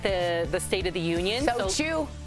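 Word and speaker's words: SOTU: So chew. That's how you say it. So chew.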